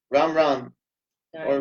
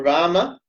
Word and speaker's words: Rama: Ram. Or Rama, but not Ramo. Sorry. No Ramo. I don't want to hear no Ramo in the kirtan, okay? No Ramo. This is serious. No Ramo. There's no Ramo.